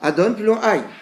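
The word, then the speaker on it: Adonai: Mais on le prononce comme cela, Adon plus long Aïe.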